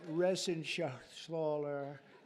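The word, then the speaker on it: Reschenthaler: you and Guy Ren shaal you know that Ren sh sler he's uh that's actually the way you pronounce it you know nobody else gets it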